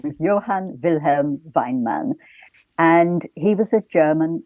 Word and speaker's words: Weinmann: Is it Weinmann, I'm guessing? That's exactly right, yes.